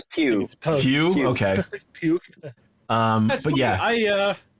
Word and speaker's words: Pugh: and I hope we get to see Florence Pugh again, or Puff or Pug or what, I don't know how to say it. It's Pugh. I think it's Pew.